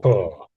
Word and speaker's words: pour: So there's three. Let's tap up the three words all the same sound. So there's the one we're looking at, pour. You pouring a liquid from a cup from the kettle into your cup to have a drink of tea. Then someone might be poor. They don't have much money, and a cat and cats and dogs have paws.